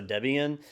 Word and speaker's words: Debian: was named after slapya it was named after the original developer and his wife at the time so it was debra and ian so debian uh that's the name